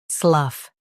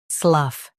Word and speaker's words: slough: Slough. Now, read the syllables shown on the screen naturally. Slough. Slough. Say slough. The g h is silent.